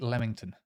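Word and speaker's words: Leamington: have niton um Royal lamington Spa oh wa is it lemington most people just say lemington by the way uh and then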